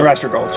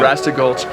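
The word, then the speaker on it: Arrastra Gulch: Arasta Gulch. Yeah. Arasta Gulch.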